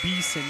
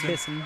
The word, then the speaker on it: Beeson: It's Beeson, not Bisson.